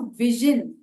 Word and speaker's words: vision: और एक साउंड है जो विजन, विजन VISION, विजन में जो ज साउंड है, ये ना ज है जैम वाला, और ना ये झ है जो हम हिंदी में झनकार वाला झ कहते हैं, वो भी नहीं है। उन दोनों के बीच का है।